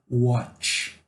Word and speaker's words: watch: Vamos pegar o verbo watch. Ó, o anterior que eu falei foi wash, ok? Xaxaxixaxu, wash. E esse aqui é o verbo watch, de tchau, watch.